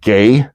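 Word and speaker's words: γῆ: The word the Greek word for earth is the word gay is how it's pronounced in Greek and it means land or earth.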